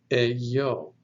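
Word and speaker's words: ἐγώ: The next word is epsilon, gamma, omega, pronounced eyo.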